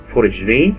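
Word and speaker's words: foie gras: Fourragère, literally fat liver in French, pronounced fourragère, is a food product made from the liver of ducks or geese.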